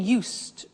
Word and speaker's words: used: I said used with a T sound. Used, not used or used. Used. That's very important to distinguish it from the other verb, use.